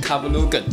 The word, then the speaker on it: Kavulugan: 卡布鲁根。